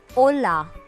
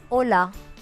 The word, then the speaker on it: hola: Note here that the H is silent. So the pronunciation is hola, as in Ola cabs. Yeah, so that's it. Hola. Kindly repeat this. So hello is hola.